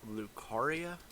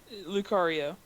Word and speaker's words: Lucario: Yeah, even Um, though I have trouble pronouncing the name. Luc- Lucaria? Lucario.